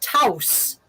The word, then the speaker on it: Taos: Pueblo in the southwest that is that is pronounced Tous and it is T and is and it